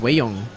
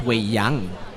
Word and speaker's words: Wei Yang: That's Wei Yong. No, correction. Let's see, that's Wei Yang. It's a legal defense. That is just very bad pronunciation for me for a Chinese name.